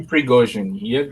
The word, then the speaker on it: Prigozhin: Was the correct pronunciation? Yevgeny Prigozhin. Prigozhin.